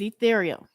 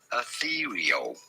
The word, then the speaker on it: ethereal: Ethereal. You do want to stress on the second syllable, the syllable.